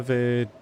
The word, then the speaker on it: veut: And then VEUT is the verb for wanting to do something.